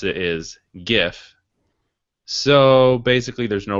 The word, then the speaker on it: GIF: The other thing, GIF and GIF, we had a little debate about.